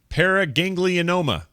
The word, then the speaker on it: paraganglioma: uh I would like Scott to try and pronounce the kind of tumors he has growing they are called paraganglioma there you go did I get it right